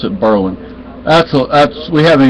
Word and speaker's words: Berlin: finding service damn Bor conquered Berlin Berlin they pronounce it Berlin that's a that's we haven't even been there